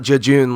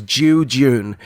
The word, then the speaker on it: jejune: fully pronouncing the word it's not jejune like really quickly it is jujun and this is basically